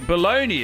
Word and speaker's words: bologna: Baloney is spelled BOLOGNA.